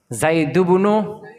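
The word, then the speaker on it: ابن: বা ইবনাতুন এটা হামজা ওয়াসল এটা শুরু থাকলে ইবনুন উচ্চারণ হবে কি হবে আর যদি মধ্যেখানে হয়ে যায়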